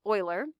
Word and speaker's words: Euler: and say his name it looks like euler but his name is euler and he looked at